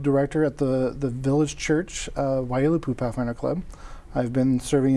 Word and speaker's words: Waiilatpu: And so that's why our club has chosen to be called Waiilatpu.